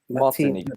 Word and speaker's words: Martinique: Martinique. Yeah, you're correct. You pronounced it right.